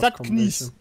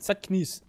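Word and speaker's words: заткнись: Zatknies heißt das, wird das ausgesprochen. Zatknies.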